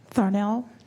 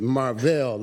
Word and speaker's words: Marvell: Thornell. Good morning. Morning. Actually, my name is Marvell. I guess it was a misspelled. I didn't do well to spell it.